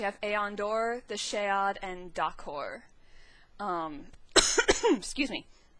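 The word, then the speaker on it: Shai: sheilu I always want to say her name shy but I have it from I think Josh and meesh from 17th star that Brandon actually pronounces it Shay which is interesting it's also kind of awkward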